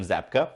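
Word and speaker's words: Zabka: i'm i suck with names yeah it's william zapka and for the very first time we see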